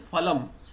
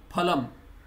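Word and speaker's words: फलम्: So Hindi they'll pronounce as falam. In Sanskrita or Shuddha Hindi it should be phalam, because it is from Sanskrita. In Sanskrita there is no fa sound.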